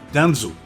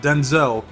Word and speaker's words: Denzel: He put a Denzel Washington. Not Denzel. It's Denzel. That's how you say his name.